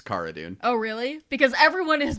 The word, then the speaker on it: Cara: Somebody asked her about it in an interview and she says it's Cara. Oh, really? Because everyone has been calling her Cara on the show.